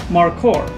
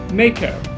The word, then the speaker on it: mako: of the word has become lost the proper pronunciation is marcor instead of mako in scientific nomenclature we see the ch pairing